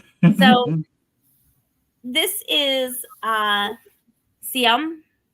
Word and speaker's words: Ziam: So this is uh Sum. I know it sounds weird, but that is how you pronounce it in Thai.